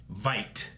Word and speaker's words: Veidt: I don't know what Adrian happened with Adrian Veidt is Yeah. how you say it. Like invite. Okay. Not vet. I keep saying vet.